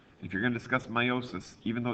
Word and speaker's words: meiosis: pronunciation of this word a lot of people want to pronounce that e because they see it at the beginning of the word they want to call it neosis and the proper pronunciation